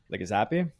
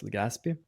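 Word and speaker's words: Legazpi: which is departing from Palo Island disembarks at Legazappi. Uh where is that on? Right here. So south Yeah, Gazpby. I probably mispronounced it when I apologize. Legaspi.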